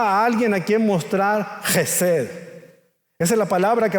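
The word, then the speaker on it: חסד: Y si quiere pronunciarla correctamente, es como si parte de la comida se le saliera por la garganta. A ver, diga conmigo: Gesed.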